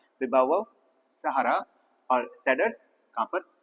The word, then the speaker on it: baobab: और तीसरा आपका इसको थोड़ा प्रोनाउंस करने में तो दिक्कत होती है, बाउबव, BAOBAB, बाउबव, ठीक है।